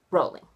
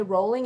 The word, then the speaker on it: Rowling: J.K. Rowling, or Rowling, however you want to pronounce it. Personally, I say Rowling.